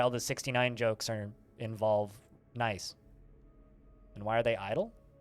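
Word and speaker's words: gneiss: It's like, because the G is silent. I didn't know that before I started playing Dwarf Fortress. I always thought it was called gnus, but no, it's nice.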